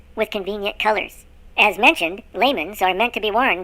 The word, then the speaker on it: lamen: These parchments are often referred to as laymen, or the Latin pronunciation, lawman or lamen.